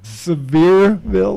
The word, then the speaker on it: Sevierville: have they have a statue of her in Sevierville which is right by where I was working severe they'll like a beer that's nice that's why are they pronounce it back there okay the big name